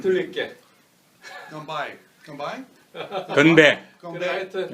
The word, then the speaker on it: 건배: Yeah, 근데 건배. How do you spell it? G-U-N-B-A-E. So the G is a little bit like have an H in it. Yeah, kind of an H.